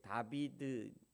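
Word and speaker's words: דוד: 있어요 제가 다윗의 이름을 히브리어로 이렇게 다윗 이게 다비드 여기가 이제 점이 찍게 있으면 따로 있는 거거든요 따 이게예요 이게 아 발음이고 이게 따 다비드 이렇게 있습니다 다비드 원래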